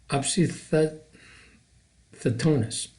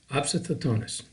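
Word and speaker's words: opisthotonos: ever mentioned this has this same painting it's pronounced obsid thetonus obsidotonis and what this is is like an arch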